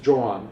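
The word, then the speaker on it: Joan: and then one is trying to combine this john john is the proper pronunciation he's trying to combine this with the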